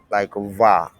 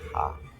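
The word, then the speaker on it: は: It's like va, not like ha.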